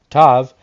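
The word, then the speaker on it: ת: The 22nd letter, Tav, path number 32, joining Yesod to Malka's numerical value of 400. This letter means a T-shaped cross when without a dogish is pronounced an S.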